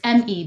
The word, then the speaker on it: ME: It's M E, but it's pronounced Me.